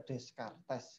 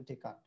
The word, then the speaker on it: Descartes: Kalau orang Indonesia ini kan bacanya Descartes kayak gitu. Bacanya Descartes ya kalau orang Indonesia. Nah, tapi dia orang luar bacanya Descartes.